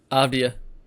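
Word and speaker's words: Avdija: Aia.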